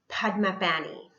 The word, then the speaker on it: Padmapani: All right, so next we're going to talk about Bodhisattva Padmapani, is how you pronounce that.